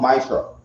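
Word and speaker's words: ma'aser: Means 10 in the Hebrew and pronounced Maisra.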